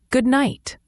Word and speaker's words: good night: Similar to good morning, the D in good is often very light or silent. And night has a long I sound like in light. It's not a strong T at the end, often a quick stop.